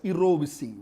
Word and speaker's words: jirovecii: So I can see Kuldeep going for pneumocystis jirovecii, and pneumocystis jirovecii is to be pronounced as jirovecii, which is the correct pronunciation.